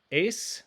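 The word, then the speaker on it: εἰς: means into or to ace remember that epsilon iota are a diphthong oftentimes when they occur together they make one sound look at our verse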